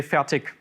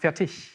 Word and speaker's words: Fertig: Because from where I'm coming from, it's perfectly fine to say Fertig. It's hard K at the end, or hard G. But in proper German, it's pronounced Fertig.